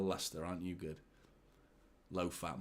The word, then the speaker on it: Leicester: out you did not no one spelled Lester correctly typing it today no one I never spell it correctly I always have to double check always have to double check Lester that's what like is like it's such a crazy name isn't it Lester like you shouldn't spell it like that look at that Isa